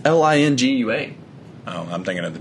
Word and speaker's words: Lingua: Oh, don't spell it, you dick. I don't know. Linguardo? It's Lingua.